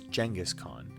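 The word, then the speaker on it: Genghis Khan: his name name to genas Khan some pronounce jangus Khan and the story gets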